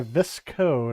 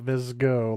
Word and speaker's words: Visco: Anyway, is a scrolling shooter arcade game developed by Visco, not Visgo, like I thought.